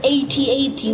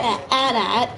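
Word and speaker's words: AT-AT: is now like at a DAT which pisses me off because in the because they've always been pronounced 8080 until recently where Disney now pronounces them a DAT which sucks because yeah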